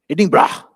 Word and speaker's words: Edinburgh: Uh he was nominated international fellow of the Royal Society of Edinburgh Edinra since Sean told me how how to pronounce that correctly.